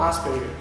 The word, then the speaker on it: Asperger: o indivíduo que escreveram Hans Asperger que era austríaco mas acaba que como a gente copia pronúncia americana norte-americano então a gente acaba falando as per copiando os americanos As duas são corretas a e quando por